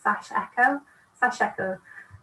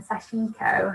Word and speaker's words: sashiko: i pronounce it wrong i think it's sash ekko um rather than sashiko i think that's very much a british way of pronouncing pronouncing it but um